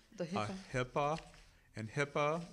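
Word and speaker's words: HIPAA: called the Hippa and Hippa sounds like hippopotamus but it's not it's spelled it's all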